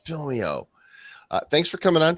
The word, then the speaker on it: Film.io: is film dot IO or pronounce it fill me out or Alvina will come banging on your drawing it's fill me out uh thanks for coming